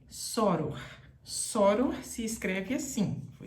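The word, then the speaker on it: sóror: dificuldade de falar porque está com um acento aqui mostrando que é uma paroxítona terminada em R assim como revólver tem acento soro também tem acento E aí tem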